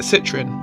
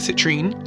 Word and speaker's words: citrine: First one is citrine. Now I call it citroine, but I do hear people call it citrine.